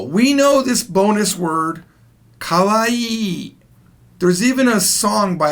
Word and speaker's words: kawaii: by being kawaii now notice Kalwa e has two E's at the end of it so it's Kahwa e e kawaii here's the problem a lot of people mess this up they say it wrong and it sounds like this qui qui means scary so they will look